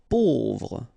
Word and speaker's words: pauvre: Pauvre, A-U together will produce this O sound, pauvre.